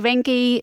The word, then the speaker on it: Reincke: And then you founded the Rinki is am I pronouncing your last name correctly? That is correct. Yes. Rinky vein center in Texas in Sugarland about four years ago.